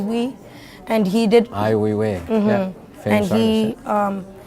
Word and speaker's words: Ai Weiwei: this guy named, I don't know how to pronounce it. It was Sure. like Wee, and he did. Ai Weiwei.